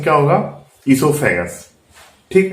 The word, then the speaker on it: oesophagus: वो साइलेंस है तो इसका प्रोनाउंसिएशन क्या होगा, ईसोफेगस।